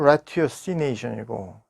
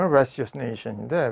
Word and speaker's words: ratiocination: Ratiocination 하면 R-A-T-I-O-C-I-N-A-T-I-O-N 해가지고 영국식으로 발음하면 Ratiocination이고 미국식으로 하면 Ratiocination인데 Ratio라는 게 그러니까 라틴어 라티오거든요.